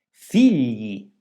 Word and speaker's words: figli: Gli, figli, raccoglitore. La successione delle lettere G, L si pronuncia gl quando è seguita dalla vocale I e in questi casi la I mantiene il suo valore vocalico.